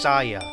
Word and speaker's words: Saiyan: In the Japanese dub, Saiyan is pronounced Saya, like Saiyajin. And the Japanese word for vegetable is Yase.